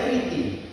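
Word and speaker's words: Κρήτη: Kalau orang baca Kreta Kriti, bacanya Kriti.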